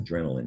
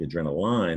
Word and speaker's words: adrenaline: it like a chemical word adrenaline adrenaline it's pronounced adrenaline now uh it looks like adrenal line or that silent e but you know that